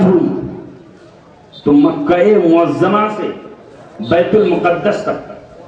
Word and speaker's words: بیت المقدس: تو مکہ معظمہ سے بیت المقدس تک، بیت المقدس یا مقدس دونوں تلفظ ہے، وہاں تک جو